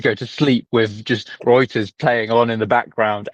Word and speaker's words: Reuters: reported by rooters on the 23rd of April indicating Reuters Reuters Reuters blah blah blah blah blah it